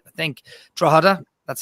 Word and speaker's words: Drogheda: I think Drogheda, that's how you pronounce it, by the way, are an Irish side who were thrown out for the same reasons.